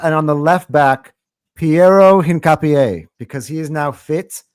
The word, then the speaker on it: Piero Hincapié: Piero Hincapié. Hincapié.